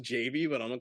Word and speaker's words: Javy: they put out a project called it's it's pronounced Javy but I'm gonna call it Javy um and